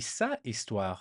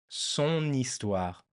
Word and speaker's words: son histoire: It finished with a I, it's feminine, but so it should be sa histoire, his or her story. Sa histoire. But it's not. It's not. It's son histoire. Ton histoire. Mon histoire. Right? Just because it's easier to pronounce, we decided that we'll